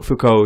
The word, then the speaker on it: Foucault: Is his name pronounced Foucault? Foucault, yeah.